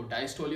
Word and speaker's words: diastole: तो बहुत सारे इनको पढ़ते हैं डायस्टोल और सिस्टोल। अगर हम इसकी जो एक्चुअल जो प्रोनाउंसिएशन चेक किया जाए तो इसकी डायस्टोली है और इसकी क्या है, सिस्टोली।